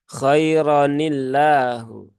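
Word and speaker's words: خيرًا الله: maka di sini kemudian yang awalnya terbaca khairon kemudian menjadi Khaironi ya kironillahu ya khaironillahu ya seperti itu ya rnya menjadi menjadi pendek ya bukan panjang jadi tidak dibaca denganirillahu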